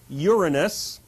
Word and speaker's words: Uranus: Gaia, all by herself, brings into existence Uranus, and please do pronounce it that way, the sky, the big expanse of blue stuff, Pontus, who is the ocean, which I am indicating here.